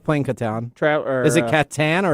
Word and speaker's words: Catan: Is it Catan or is it Catan? You know, tomato. Okay. I mean, I shouldn't be the one correcting anybody's pronunciation, but yeah, probably not. You probably should never pronounce anybody's normally pronunciations. Okay, there you go. All right. What is it? I just got you lost. You did. It's Catan.